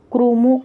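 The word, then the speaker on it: क्रुमु: 4 river of Afghanistan नेमली करुमू, कोई लोग क्रुमू कहते हैं, कई लोग इसको करुमू के नाम से प्रोनाउंस करते हैं।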